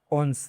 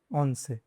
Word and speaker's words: once: 11 — once Even though it may look different from English, in Spanish it is pronounced once.